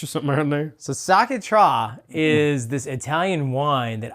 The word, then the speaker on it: Sciacchetrà: let me look at how to pronounce this. It's called La Polenza. Well, that's the brand. So it's called, it's called Sciacchetrà. Sciacchetrà.